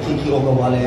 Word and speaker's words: Kiki Okewale: And, well, she really insisted that I pronounce the name right, Kiki Okewale.